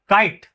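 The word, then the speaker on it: kite: अब अगर ई लगा देते हैं तो क्या हो जाएगा? काइट है ना? उसका प्रोनाउंस क्या पढ़ेंगे हम? पूरा आई पढ़ेंगे। मैजिकली में क्या पढ़ेंगे? उसका आई पढ़ेंगे। और यहां पे ई गायब हो जाएगा।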